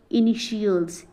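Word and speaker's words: initials: जाता है जैसे कि इनिशियल्स यहां पर क्या है इनिशियल्स इटल्स ना बोल के इसको क्या बोल हम लोग इनिशियल्स यहां पर जैसे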